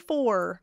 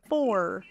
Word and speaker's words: four: before an R for can you hear that r at the end four four a lot of people can't hear that but if you can hear it great I like to call it sneaky schw that's before an